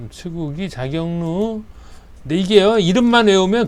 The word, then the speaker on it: 측우기: 그래서 이거는 추구기 추구기 츠 여기 밑에 받침 발음이 없어요. 츠구기 자격루 자경 경 그 뭐 경기도 할 때